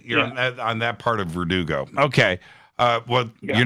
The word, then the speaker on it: Verdugo: I'm in, is it pronounced Verdugo or Verdugo? Verdugo.